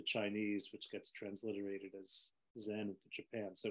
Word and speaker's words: Zen: people who don't know, Chan is the Chinese word for the ideogram. And then when it moved to Japan, that ideogram is pronounced Zen.